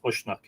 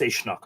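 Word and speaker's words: Usnach: It's spelled U-S-N-A-C-H, Ushnach. Well, that's Ishnach, of course.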